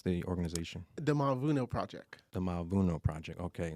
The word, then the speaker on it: Mavuno: And how do you pronounce the organization? The Mavuno Project.